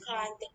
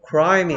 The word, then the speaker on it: climb: L은 반대로 혀가 밖으로 튀어나옵니다.